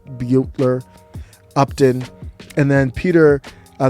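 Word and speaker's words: Herrera Beutler: house butler all right i don't know how to pronounce her last name i thought it was butler but i think it's beyo buetler upton and then peter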